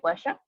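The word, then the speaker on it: Washoe: El primer chimpancé en aprender el lenguaje de signos norteamericanos fue el chimpancé Washer, nuestro pronunciación Washer, una hembra que murió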